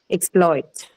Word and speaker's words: exploit: Okay, so if it is used as a verb, the stress is on the second syllable. Okay, exploit.